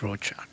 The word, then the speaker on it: Rochak: Rochak, Yeah. rather than it's just Rochak.